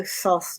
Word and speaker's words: Thoth: I've got a stunted Thoth behind me, and or Tot or Tote because they don't pronounce the H's.